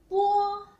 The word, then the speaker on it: bo: When we pronounce po sound, the paper moved, right? Okay, good.